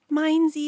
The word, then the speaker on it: Minesy: I named it instead of miney it's mensy maybe minesy. Minesy is cute. Okay it's pronounced minesy. Minesy only.